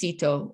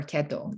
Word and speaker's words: Ceto: And many think that he actually meant sea, that she was born to a sea, or the sea goddess Ceto or Keto, depends on your pronunciation.